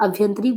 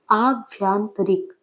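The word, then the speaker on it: आभ्यंतरिक: अभ्यंतरिक बोलेंगे तो गलत लिखेंगे। अभ्यांतरिक बोलेंगे गलत। आभ्यांतरिक तो सही होगा। तो शुद्ध शब्द के लिए आभ्यांतरिक आपको उच्चारण भी बिल्कुल उसी प्रकार करना होगा।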